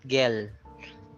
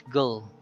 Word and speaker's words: gull: So it's not gol, it's not gel, it's gull.